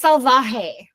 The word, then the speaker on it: Salvaje: It's Salvaje.